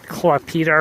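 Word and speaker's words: Klaipėda: Coastal town Klaipeda, or they pronounce it Klaipeda or something like this. Klaipeda.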